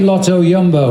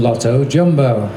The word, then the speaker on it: Lotto Jumbo: so different to us we're now calling it Lotto yumbo at the start of the year we were allowed to call them Lotto jumbo in the old days it was leopard Tre